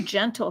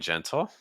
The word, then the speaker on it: gentle: They're very gentle cats, but You will hear that she pronounced the T in gentle.